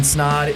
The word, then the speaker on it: Snod: My name is Snod. It rhymes with Odd.